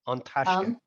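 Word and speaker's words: An Taisce: It's Irish. On like near, you could nearly say on like on Tashka.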